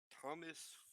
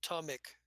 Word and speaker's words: Tomic: Thomas Frickson? Something? It's not Thomas, but Tomic. Sorry, I Tommy.